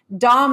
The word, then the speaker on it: Daum: Dom on the show so there was a controversy about her name pronunciation I like Dom and she's been very kind of uh do as you wish with it so I'm G to say Dom but you're G to